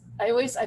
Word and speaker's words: hay: And then it says, I put an I here because the way you pronounce this word is I, like an I, but it means there's un virus.